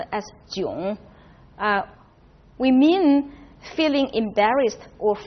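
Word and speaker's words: 囧: now when we use that culture which is pronounced as June we mean feeling embarrassed or frustrated probably the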